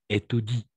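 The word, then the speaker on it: étudient: le français ceux qui Étoudi le moins en effet parce que derrière il y a ent n'est-ce pas ent mais on ne prononce ce sont ce sont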